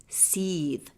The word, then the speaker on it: Seth: Seth should be pronounced sethe which is telling along with the heakasuit capital being called avarice.